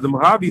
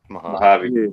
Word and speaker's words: Mojave: I mean, the Mojave Desert goes to like 4 different.